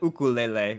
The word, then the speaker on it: ukulele: I was also uh I grew up in Hawaii, so we the we we called it ukulele, which is the Hawaiian pronunciation.